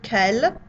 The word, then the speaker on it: quel: Quel est le vin qui verse la déesse? Quel est le vin qui verse la déesse? Notice that the L at the end of quel, careful, you're saying it.